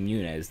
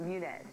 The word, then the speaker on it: Muniz: Frankie was given an M&M's jacket, and Schrader even invited Muniz to go to the driver's meeting with him.